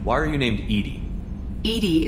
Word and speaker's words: EDI: are you named Edie Edie is the phonetic pronunciation of EDI that is an acronym for enhanced defense intelligence I want to change